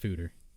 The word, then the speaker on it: foeder: I think it's pronounced Fooder.